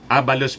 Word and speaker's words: Abalos: Sabi po ni Benhur Abalos, Abalos pala ang pag-pronounce yan, Benhur Abalos.